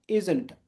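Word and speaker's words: isn't: ঠিক আছে, যখন আমরা প্রথমে বসাবো তখন উচ্চারণটা এইভাবে করবো, আর্নড, ইজেন্ট, আর্নড, আর ইজের ক্ষেত্রে ইজেন্ট।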